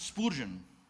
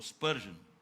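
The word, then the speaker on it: Spurgeon: Nas palavras de Spurgen ou Spurgion melhor, né?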